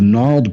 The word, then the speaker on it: gnarled: It's because GN is N. We do not pronounce the G. It is silent before N.